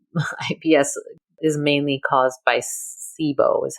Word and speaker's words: SIBO: like you said IBS is mainly caused by sibo is how you pronounce it correct yes and so so you